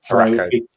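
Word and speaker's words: Arakko: Araco.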